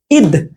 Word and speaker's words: ঈদ: উচ্চারণগত পার্থক্যটা কিরকম হবে দেখেন আমরা যখন এটা বলবো একটু ভালোভাবে খেয়াল করতে হবে এটা যখন বলব এটা কিন্তু রস ঠিক আছে এটা কি স্বর রস স্বর আর এটা কি স্বর দীর্ঘস্বর আমরা যখন এটা বলবো তখন আমরা কিন্তু ঈদ ঈদ এরকম বলবো ঠিক আছে ঈদ মোবারক